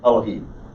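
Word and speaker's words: אֱלֹהִים: tell you last week pronounce it elohim because you don't really vocalize this vowel it's a half vowel it is an e but it's got this shabbat next to it it's an unvocalized vowel the emphasis is on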